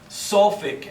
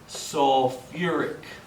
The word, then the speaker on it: sulfuric: this is sulfate okay this one has a little extra syllable in here you may think it may be Suffolk acid but it's actually gonna be sulfuric acid okay and the root